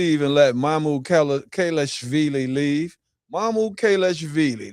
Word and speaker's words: Mamukelashvili: Mam Kalashvili. That's how you say it is name.